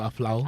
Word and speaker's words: Apawu: And Eric from Aflau also says, it's pronounced Apawu.